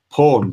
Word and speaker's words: pwned: You can put pawned, I'm told it's pawned by our producer, Janine.